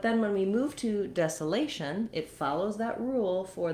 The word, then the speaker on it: desolation: So that's where we have the A diphthong, lation, desolation. Again, we have secondary stress here, so we keep the same sounds for the desa part, but the A is going to change between desolate and desolation.